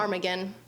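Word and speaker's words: ptarmigan: Tarmagan. It's spelled with a PT. Tarmagan.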